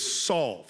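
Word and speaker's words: salve: Services is if it now the dictionary the pronunciation which I have to look up words every week is solve who knew this I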